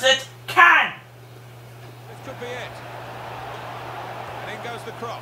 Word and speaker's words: Can: two as they and C N is can and not Chan it's a [ __